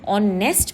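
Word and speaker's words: honest: When I speak ऑनेस्ट मैन, मैं focus करूंगी ओ, H will be silent, H silent हो जाएगा। ऑनेस्ट man, that is the correct pronunciation, इसीलिए हम लगाएंगे एन।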